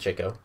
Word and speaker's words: Chico: up with his chico his brother yes it's pronounced chico he often speaks in this faux italian accent